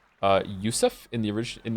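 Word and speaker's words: Yosef: about having many names the name Joseph is pronounced uh Yousef in the orig in its original Hebrew form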